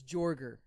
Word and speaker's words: Jorger: Is the original pronunciation of your name Jorger? No, it's Jorger. Okay. Yeah, it's Jorger. Seems like like a it should be tiger.